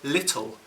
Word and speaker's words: little: If you can't hear the difference, compare how I pronounce the L's in the word little.